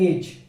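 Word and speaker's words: edge: उसी प्रकार ई तो इसके अंदर लास्ट में है इसीलिए साइलेंट है, तो इसके अंदर पढ़ा जाएगा एज।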